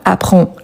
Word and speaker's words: apprend: On a le D également qu'on ne le prononce pas. Apprend.